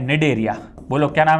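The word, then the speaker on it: Cnidaria: है जिसका नाम है डेरिया बोलो क्या नाम है जिसका नाम है डेरिया है ना सी साइलेंट होता है डेरिया डेरिया या इसी को बोलते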